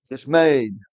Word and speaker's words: dismayed: Remember, it rhymes with afraid. Dismayed.